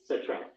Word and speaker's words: Cetrella: Citrella. There you go. Citrella, that's how they pronounce it.